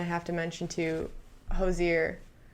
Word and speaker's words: Hozier: to mention to you josier hojir hozier you because even ty says i say wrong like no i promise you i'm saying it right that is the definite name but he has songs